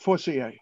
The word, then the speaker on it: Forcier: Yes, Forcier, Forcier. Thank you. You're welcome. Her grandfather would have pronounced it Forcier.